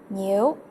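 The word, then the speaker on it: 牛: New, and the pronunciation sounds like the word new.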